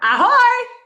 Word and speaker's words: ahoj: Yeah, we have to be careful with the ahoy, so we don't sound like Ahoy, not ahoy. It's not like a pirate. Emphasis is on the first syllable. It's ahoy, which is their way of just saying hi and bye.